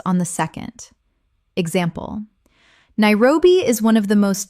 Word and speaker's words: Nairobi: Nairobi. Common mispronunciation. Nai-ro-bi. Correct pronunciation. Nai-ro-bi. Three syllables with the stress on the second. Example. Nairobi is one of the most dynamic and rapidly growing cities on the African continent.